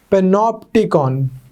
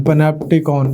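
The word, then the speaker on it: panopticon: पी ए एन ओई पेनो टिकन पेनो टिकन पनप टिकन depending on हाउ you want to pronounce it पन optical इनको develop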